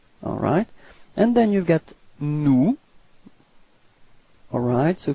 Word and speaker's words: nous: And then you've got nous. Alright. So keep in mind that final S is not pronounced.